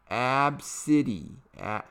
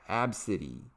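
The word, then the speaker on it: Abcde: only mocked her five-year-old daughter's name which is pronounced AB City AB City AB City in front of the young girl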